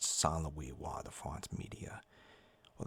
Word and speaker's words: Saint Louis: Louis King of France is what it is but why why why pronounced solloway why the font media well that's French obviously I personally I think